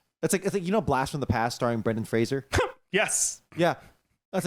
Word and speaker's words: Brendan Fraser: Did you know that it's Brendan Fraser? Okay, fuck off. No, I'm serious. It's actually Really? Brendan Fraser. You know. It's not spelled like Frasier, the TV show.